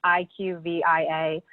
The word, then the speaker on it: IQVIA: It's IQVIA.